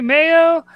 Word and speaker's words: Mayo: Hey, folks, it's Meeting of the Minds, and we got John Malin, Mayo. I am saying it right, correct? Oh It yeah, is. yeah. All right. It's like mayonnaise.